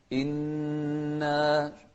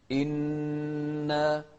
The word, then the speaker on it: إنا: إنا وضحنا الهمزة وأيضا الكسر فيها. إن ما قلنا إن، لا، إنا، والنون المشددة كذلك بمقدار حركتين.